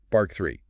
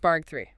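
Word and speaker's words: بارجع: And notice that G sound in Egyptian Arabic, it's a hard G like in go or gum. Bark three, not a soft chase out. Bark three.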